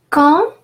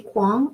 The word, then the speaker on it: quand: Quand, always and always, U after Q is silent. So we won't try to say quang or something like that, but it's quand, and AN is nasal A, quand.